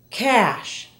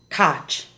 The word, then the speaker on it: cash: Listen to the following SH words and how they're mispronounced in Spanish. Shadow is often said as chado. Cash, not cotch. Usher, not utcher. And she, not chi.